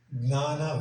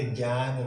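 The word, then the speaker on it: jñāna: Gnana Vignana Yoga. Not a Jnana Vignana Yoga. Gnana. That is very important on this pronunciation and make things changes.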